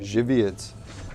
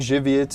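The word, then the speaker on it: Żywiec: yeah the polish beer shibiats that's one of my polish friends favorites i think jiviets is how you pronounce it but it could be wrong i don't know how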